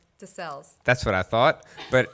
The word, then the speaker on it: Desselles: how do you say your last name desales that's what i thought but i normally botch